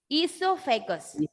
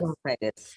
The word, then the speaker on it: oesophagus: Esophagus. Repeat the Esophagus. word esophagus. Esophagus. Even it is O is there. In English, O is silent.